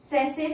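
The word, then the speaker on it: tsetse: वन is human हम लोगों में एंड the second is सेसे फ्लाई. नाम में टी है, टी साइलेंट है, सेसे फ्लाई.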